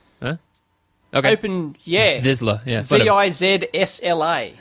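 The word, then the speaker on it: Vizsla: Open Visula. V-I-Z-S-L-A. There's no U in there. Huh? Okay. Open, yeah. Visla, yeah.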